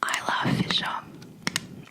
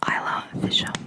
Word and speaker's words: Isla Fisher: Now my favorite actress is Isla Fisher. I think that's how you say her name. Isla Fisher.